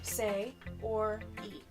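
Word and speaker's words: Sayori: before you read it I'm going to help you pronounce it ready so say or E okay you and say or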